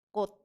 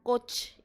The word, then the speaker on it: 꽃: Tulisan kot ya, dia bacanya adalah kot. Meskipun di sini ada konsonan ciet ya. Jadi kalau ada konsonan akhiran ciet, maka cietnya dibaca T. Oke, ini adalah 받침 ya, masuk ke barem gyujik, yaitu aturan pelafalan. Jadi bacanya adalah kot, bukan coach.